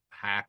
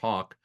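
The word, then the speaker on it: Haack: I always thought it was Hack, but it's pronounced Hawk.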